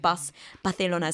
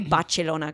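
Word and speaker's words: Barcelona: Um but I think yeah coming back to the I think baselona. So now I say bachelona cuz that's how they say it in in Italy.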